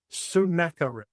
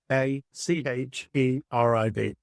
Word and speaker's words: Sennacherib: So I looked up how to say it, so I'm going to say it correctly. It is Sennacherib. Sennacherib.